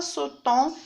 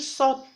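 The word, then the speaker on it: sautent: Alors ici, il ne se prononce pas. On ne dit pas sautant, mais on dit saute.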